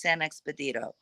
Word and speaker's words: San Expedito: So do a little bit of research, not a lot, on Saint Expedito, but it's pronounced San Expedito.